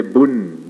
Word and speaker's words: bun: The P they pronounce as B. P-U-N. Punya, they say bun. Bun.